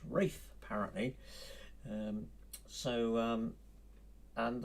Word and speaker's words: Ralph: tunes sin nominee by rafa von williams ralph pronounced wreath apparently um so um and the the title